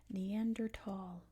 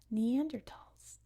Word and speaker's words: Neanderthal: Also, Neanderthal is how it's pronounced. It's named after the Neanderthal or Neander Valley in Germany, and it is pronounced Neanderthal. However, if you say Neanderthal, that is fine too. That is one of the English pronunciations. So if you say Neanderthal, no one's going to be mad or anything, but it is pronounced Neanderthal. That is the correct name.